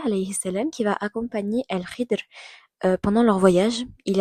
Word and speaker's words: Khidr: Il y a également l'histoire de Moussa El Khidir, je sais El Khidr, je crois que ça se prononce comme El Khidr, oui, c'est bien ça.